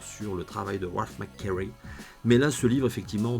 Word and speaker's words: McQuarrie: parcours d'un homme exceptionnel ralph mcquarrie ouais je le prononce à l'américaine parce que c'est un américain donc rage mcquarrie qui